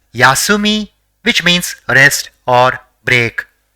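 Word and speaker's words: 休み: say the next word the first character in the word is yeah the second is Su and the third is me so it will be pronounced as yasumi which means rest or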